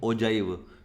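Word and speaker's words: ogive: इसके बाद है, इसको बोलते हैं ओगिव वक्र, कुछ बोलते हैं ओगिव, कुछ बोलते हैं ओजाइव, क्योंकि इसकी इंग्लिश में रहती है स्पेलिंग OGIV। तो कुछ लोग ओगिव रीड करते हैं, कुछ लोग ओजाइव करते हैं।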